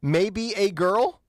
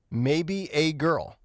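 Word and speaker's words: Maebe A. Girl: Silver Lake neighborhood councilman maybe a girl great are you picking on what I'm saying here maybe a girl but it's spelled m a e b you have you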